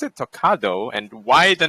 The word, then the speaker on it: Talkado: guess starting with the name how do you pronounce it tocado and why the name takado yay is talk ah do it means talk ah dude whatever it says